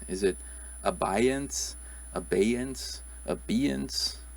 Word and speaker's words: abeyance: pronounce this one is it a baiance abeyance abeyance how would you pronounce this one it's actually abeyance so and